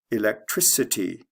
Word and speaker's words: electricity: change the spelling but it goes from a hard C Electric to a soft C electricity like from a k to an S sound let's look at the